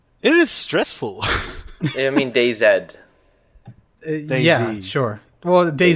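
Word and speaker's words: DayZ: we should just leave no and he he pronounces it as d z so okay oh he pronouncing it wrong yeah he's pronouncing it wrong it's day Zed so dayed stressful is it I hate new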